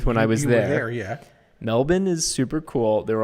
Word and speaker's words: Melbourne: ahead here i'm in melbourne australia which is pronounced melbourne i learned when i was there yet melbourne is super cool there were also tons of